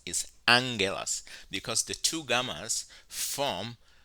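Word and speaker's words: ἄγγελος: gammas come together and when they come together they are pronounced with an N sound for example here is the word angel it is pronounced Angello's it's not oculus it's not aguilas is angulas because the two gammas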